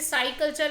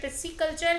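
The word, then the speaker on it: pisciculture: कुछ लोग इसे साई कल्चर भी कहते हैं। बट यह पिसी कल्चर है।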